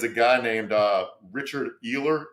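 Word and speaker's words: Uihlein: guy named uh richard ehler it's either spelled e e u h eli eli sorry e-u-h-l-e-i-n i looked at the pronunciation because i make sure i got it right richard eli is the heir of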